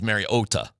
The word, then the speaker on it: Mariota: And Marcus Mariota said, "No, it's Marcus Marota."